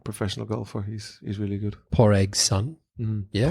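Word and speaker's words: Pádraig: Poraig's son. Yeah. Porag, How do you say it? Porig, Poraig. Paddy, Poraig. Paddy. Paddy. Yeah. That's Paddy. that's Paddy in Irish in Gaelic.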